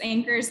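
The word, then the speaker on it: Anker: uh really quick on the a you say anchor and it's i've been pronouncing it ankar for some reason but i know ross has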